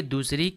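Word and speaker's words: the: ठीक है, देखिए यहाँ पे दी का उच्चारण हुआ है और यहाँ पे द, हमने बताया जब इसका यूज़ करते हैं जिसके पहले अगर उसमें पहला अक्षर वावेल हो यानी स्वर से हो तो इसे हम दी पढ़ेंगे।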